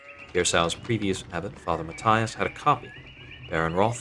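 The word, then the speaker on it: Matthias: Kira I heard father matius died shortly after my last visit I think that should be Matias rather than the way I pronounced it a forefather gno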